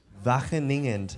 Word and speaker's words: Wageningen: scientist and associate researcher at, how do you pronounce the name of the university? Where you Wageningen University.